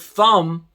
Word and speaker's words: thumb: T, that when they see the word thumb, that it's not going to be the and of course the B is silent.